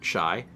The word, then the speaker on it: Chi: In my defense, we have, I think, actually at least 2 other users who have CHI as their username, and it's pronounced, like, shy.